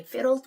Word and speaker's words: fiddle: He fiddled with his fingers, embarrassed that he couldn't calculate. He fiddled with his fingers. 그는 fiddled. 자, fiddle 하면은 feet인데 fiddle 이렇게 발음됩니다. fiddle.